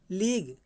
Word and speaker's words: league: जैसे देखेंगे इसमें क्या दिया, लीग, LEAGUE, तो UE मेरा साइलेंट, UE जो है ये साइलेंट हो गया, तो क्या हुआ, लीग। लीग मीन्स होता है संधि, संधि या फिर आप संगठन भी कह सकते हैं।